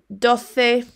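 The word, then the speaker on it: doce: muy bien uno cuatro remember in spanish quite a lot of the words have got the c followed by the e just like this one ante dothe trethey remember you say that as a sound as if you were going to say the in english so trethey not tressay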